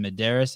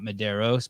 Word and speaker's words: Medeiros: say his name right his name is justin medeiros it's not mederos but those are the